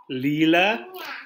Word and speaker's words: lila: so next having beer rosa that is lila leela but it's more fun to say purpur leela